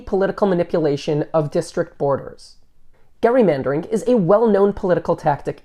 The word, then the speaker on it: gerrymandering: name has stuck and the term which most people Now Pronounce with the soft G has come to represent any political manipulation of District borders Gary mandering is a well-known political